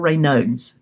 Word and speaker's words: Raynaud's: Raynaud's or Raynaud's.